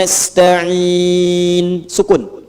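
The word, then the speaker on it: نَسْتَعِينُ: dibacanya fathah depannya na ya ujungnya harakatnya u kalau disambung iaka naudu iaka nasta ihdinatal mustaqim kalau berhenti sukunkan iyaka na'budu wa iyyaka nasta'un ya sukun Karena orang Arab itu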